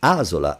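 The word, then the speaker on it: asola: And so the actual word is azula and that the accent goes on the first ah.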